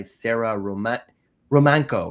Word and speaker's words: Romanko: Today, I'm joined by Sarah Romanko. Right? I'm pronounced your name Yes.